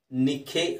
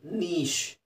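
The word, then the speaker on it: niche: ನಿಖೆ ಅಂತ ಹೇಳ್ತೀರಾ, ನೈಖೆ ಅಂತ ಹೇಳ್ತೀರಾ. ಇದು ನೋಡೋಕ್ಕೆ ವಿಚಿತ್ರವಾಗಿದೆ. ಅದು ಹೇಗೆ ಕಾಣುತ್ತೆ ಆ ಥರ ಇಲ್ಲ. ಅದು ಅದರ ಉಚ್ಚಾರಣೆ ಬಂದು ನೀಶ್.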